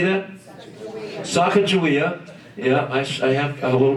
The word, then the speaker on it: Sacagawea: with goku kakawia how do you say that sacagawea yeah i have a little bit of a